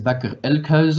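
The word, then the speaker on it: Bakker Elkhuizen: bâcler le cuisine donc on le prononce à la hollandaise bac elle creuse mais pour les français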